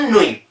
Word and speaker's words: nuit: Bone नुई।